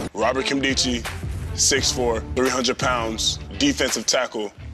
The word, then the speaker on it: Nkemdiche: i c h e I've heard people call my last name nadichi Nakamichi Kim dicki when I'm a star in the league people going to know how to pronounce my name you know who was